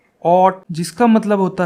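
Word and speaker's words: haute: इसको बोलते हैं, इसकी प्रोनाउंसिएशन होती है ऑट, जिसका मतलब होता है फैशनेबल या फिर हाई क्लास, जिसकी क्लास हाई हो, उच्च वर्ग से संबंधित जो हो वो होता है ऑट।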